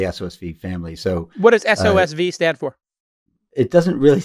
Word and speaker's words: SOSV: Am I pronouncing it correctly? SOSV? Yeah, SOSV, that's the name of the venture capital firm.